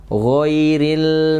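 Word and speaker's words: غير: Dalam keadaan sukun gho ini itu ada mengalir dan mengalirnya juga tebal bunyi ya. Jadi bacanya ghairil mau.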